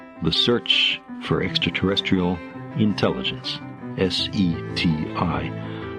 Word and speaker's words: SETI: S E TI, pronounced SETI.